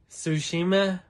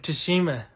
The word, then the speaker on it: Tsushima: ghost of shisema ghost of tsushima shushima well i've been saying it wrong with a strong tea ghost of tashima but obviously it's like tsunami but i would say